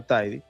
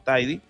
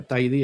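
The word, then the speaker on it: Thiede: Si alguien pronuncia Tidy es que no sabe lo que está pronunciando, claro, porque es que no es un nombre inglés y entonces la gente tiende a pronunciar los nombres como si fueran ingleses y, por ejemplo, dicen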